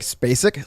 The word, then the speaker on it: Spacek: I'd say it's like Spacek. Like Sissy Spacek.